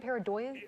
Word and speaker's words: pareidolia: Is that how you say it, pareidolia?